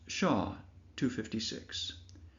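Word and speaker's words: SHA-256: But the main one it uses is named SHA256 pronounced Shaw 256 where SHA simply stands for secure hash algorithm.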